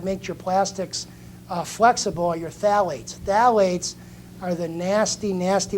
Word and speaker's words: phthalates: um their baby bottles yep so it is pronounced as your phthalates that's but those are and the and the